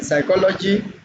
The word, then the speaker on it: psychology: coming before s or if p is coming before n so you will see that the P will be silent like in Psychology in psychedelic in s